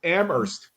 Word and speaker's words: Amherst: well being from there you don't pronounce the H right it's Amherst yeah exactly middle bit